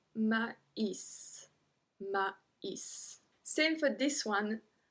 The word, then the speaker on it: maïs: Numéro 25, du maïs. Du maïs. So in this one, we pronounce every single letter.